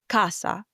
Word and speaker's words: casa: For example, as we learned in the word dinner, Senna, but before an A, O, or U, it sounds like a K sound as the word we learn casa, which means house.